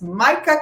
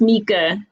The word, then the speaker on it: Mica: sandra hauregi schwapitz and today our guest is micah welcome micah how are you today good good good good it's it's nyca but it's pronounced mika mika yes yes yes how are you doing